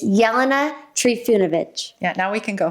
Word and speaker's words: Jelena Trifunovic: It's Jelena Trifunovic.